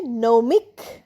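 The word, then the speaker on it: gnomic: নমের পরে আবার আসছে নৌমিক। জি এন ও এম আই সি নমিক। নৌমিকের উচ্চারণ হবে এন দিয়ে।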